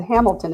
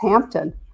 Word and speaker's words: Hampton: I said Hamilton, it's Hampton. Let me say it properly.